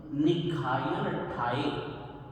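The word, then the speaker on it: निग्घायणट्ठाए: निघायनठाये ये शब्द है निर्घातनार्थ, तो निर्घातन, निघायन, निघायनठाये इसको इस तरह से बोलेंगे, निघायनठाये।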